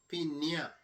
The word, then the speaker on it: piña: La piña. Piña. P-I-N-A. Piña. So, and nia. So that as a little thing over the N. Yeah. So it sounds up in here. Enia.